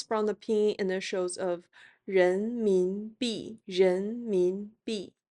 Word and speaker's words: 人民币: RMB which comes from the pinyin initials of 人民币 (rén mín bì) 人民币 (rén mín bì).